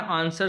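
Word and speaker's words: answer: तो आंसर में डब्ल्यू जो है वो क्या है? साइलेंट है।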